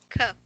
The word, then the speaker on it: cough: Cough. Cough. Okay, you pronounce, hold on. You pronounce G and H as letter F, okay, with an F sound. It's like this one. You pronounce this as cough.